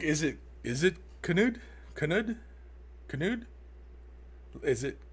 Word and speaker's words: Knud: Christine, Nud, normal K, and the Nud is nude. So Knud, Nude Viking.